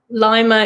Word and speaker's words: Lima: Lima, Indiana, pronounced like lima bean.